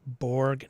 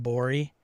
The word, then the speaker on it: Borg: shipping dang right Sean please just say Borg not bori it's not the correct pronunciation orus it's Bor so